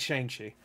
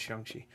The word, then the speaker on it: Shang-Chi: Shang-Chi and everybody else fighting, and it's really, really well done. I said Shang-Chi. Should have said Shang-Chi.